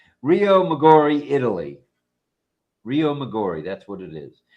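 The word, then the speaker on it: Riomaggiore: rio maor rio majori moror Le no it's Rio magori Italy Rio migori that's what it is it is pronounced Rio oh all I had to do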